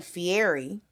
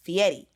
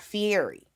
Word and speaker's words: Fieri: right yeah and so I was just saying Fieri because that's how I usually hear it but I had to go back and re-record because his last name is pronounced Fieri is that Fury that yeah yeah and